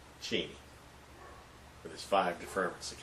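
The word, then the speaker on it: Cheney: that would be Justice or dict cheni which is the proper pronunciation of his name cheni with his five deferments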